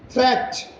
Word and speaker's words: threat: Watch out for meat, great, threat. They rhyme with, see, meat rhymes with sheet, whereas great rhymes with straight, and threat rhymes with debt.